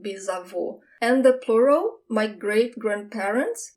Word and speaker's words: bisavô: Great-grandfather, bisavô. That's the closed sound, bisavô.